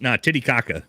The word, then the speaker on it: Titicaca: Huachuca, that's how it's pronounced. Titicaca is how it's pronounced.